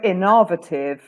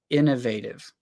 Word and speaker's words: innovative: so if you go inovative so you you stress the in but you don't stress the V whereas I for me the I is still important but the V is very very stressed Innovative yeah in fact yours